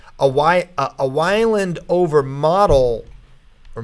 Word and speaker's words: Model: And like a Weiland over Model, or Modal, probably Model, M-O-D-E-L is pronounced Model, doesn't mean anything in the NCAA tournament because those are guys that are not.